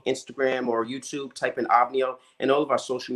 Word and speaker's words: OVNIO: yes, How do you pronounce it properly? OVNIO, like the singer OVNIO.